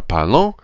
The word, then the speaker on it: parlons: These four are, they all sound the same. They're written differently, but they all sound the same. Our only different ones are parlons and parlez.